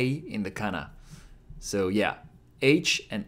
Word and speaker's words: は: Ha is pronounced like ha in ha ha ha, like laughing.